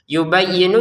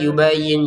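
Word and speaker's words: يبين: Jangan kadalika yubayah yubayyinu yanya ditekan yubayyin. Jangan sekedar yubayin yubayin ditekan yubayyin.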